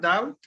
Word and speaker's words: doubt: Remember that word, doubt? The B is silent. Remember that? It's pronounced doubt.